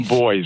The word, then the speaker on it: Buoys: The boys. The boys. No, it's Spelled the Buoy boys.